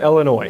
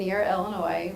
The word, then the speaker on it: Illinois: ear my wig Munir Illinois in Illinois or Hermione are you assuming the S is silenced in Illinois yes yes gotcha